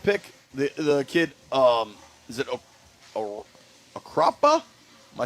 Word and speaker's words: Okpara: The kid, is it Akrapa? Am I saying that right? I'd like to say it right. I have it here. Felix Okpara. Okpara.